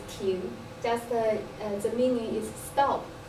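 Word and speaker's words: 亭: The pavilion in Chinese pronunciation is Ting, just the meaning is stop.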